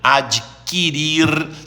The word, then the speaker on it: adquirir: Então, o Conselho Administrativo extinguirá, aliás, o verbo é extinguir, não é extinguir, nem distinguir, nem adquirir. O U não se pronuncia. Extinguir, adquirir, distinguir.